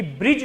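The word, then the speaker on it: bridge: ठीक है, जब आप ब्रिज बोलते हैं, प्रोनाउंसिएट करते हैं, तो डी क्या है? डी is silent, D silent है। आप ब्रिज नहीं बोलते हैं, आप ब्रिज नहीं बोलते हैं, क्या बोल रहे हैं? ब्रिज बोल रहे हैं, दैट इज डी साइलेंट।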